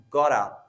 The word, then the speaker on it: got to: Or that example is got to. that's pronounced as gotta.